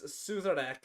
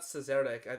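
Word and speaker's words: Szarekh: It's Suzerac, if I remember correctly. It's not Cesarek. I'm pretty sure in the audiobooks it's always pronounced Suzerac.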